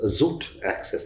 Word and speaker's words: Xoot Access: Tiger Marron to your third avatar, which is Xoot Access. Am I getting the pronunciation Right.